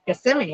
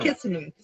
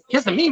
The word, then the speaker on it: Kissimmee: Kissimmee, yep. Not Kissimmee. Kissimmee right here.